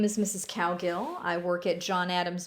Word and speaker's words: Cowgill: Cowgill is a phonetic word, which means that when you see the word or my name, you say it exactly like you see it. So cow is the first syllable, it's pronounced cow, and gill is the second syllable, and it's pronounced gill, like how a fish breathes.